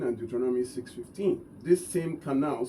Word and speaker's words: qanna: Pronounced pronounced qanna.